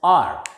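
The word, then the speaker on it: hour: Next, H-O-U-R. H is silent here and it is pronounced as R.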